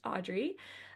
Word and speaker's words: Adri: It's spelled a little weird, but it is pronounced Audrey.